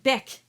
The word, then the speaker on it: bec: Now the word avec and bec, that C is pronounced.